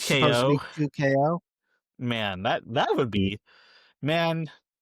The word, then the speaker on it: 2XKO: supposed to be pronounced 2 times KO or 2 times knockout. But the X is silent, just like Hunter x Hunter. No, damn. So 2KO. It's supposed to be 2KO.